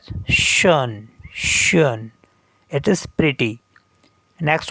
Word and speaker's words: schön: Next one is here O umlaut, and in normal it is pronounced O. Schon. Schon means already, but with umlaut it is pronounced as schön.